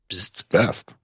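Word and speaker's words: B'st: Buddy uh who's name is best it's best but there's no e there's an apostrophe so I read it as best but it's kind of let's call him best so that it's easier to pronounce yeah so best joins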